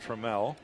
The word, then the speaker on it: Trammell: It is pronounced Trammell.